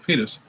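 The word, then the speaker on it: Foetus: the fetus record photos coming up for guys pronounced fetus yeah fetus there we go this one's made in the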